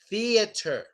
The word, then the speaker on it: theater: Theater. It's not a theater. Well, in American English, we say theater. Theater.